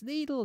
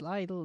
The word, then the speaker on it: Lidl: to say it properly it's needle no it's lidl no it's legal but they